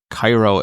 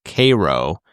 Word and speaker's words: Cairo: E.g., Cairo, Illinois is pronounced Cairo, not Cairo. Yeah.